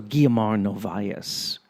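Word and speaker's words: Guiomar Novaes: Also, Guiamar Novias is a very intimate Mazerka player in that sense. See, I pronounced her name correctly because I used to speak Portuguese, even though I completely forgot how to speak Portuguese.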